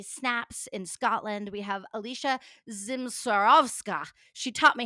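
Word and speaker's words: Alicja Zmysłowska: Shane from monthly snaps in Scotland we have Alicia Zim swarovska she taught me how to say it from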